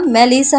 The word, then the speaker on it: মেলিসা: চিৎকার করে আদনান বলে, এই মেলিচার বাচ্চা। ওটা মেলিচা না মেলিসা হবে। মূর্খ কোথাকার?